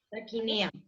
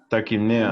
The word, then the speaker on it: taquipnea: Taquinea. Taquipnea.